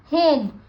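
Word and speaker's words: home: अब इसको कौन से साउंड दे रहा है, वो ओ की, तो ह ओ म, होम, ई की साउंड नहीं आ रही, इसमें ई साइलेंट है, ठीक है।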